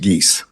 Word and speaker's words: Geis: And if I may correct the court, the last name is pronounced Geese. Geese, sorry about that. As in Canada geese.